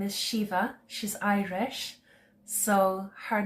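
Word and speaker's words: Síomha: So a singer, her name is Shiva, she's Irish. So her name is spelled S-I with an acute, I think, S-I-O-M-H-A,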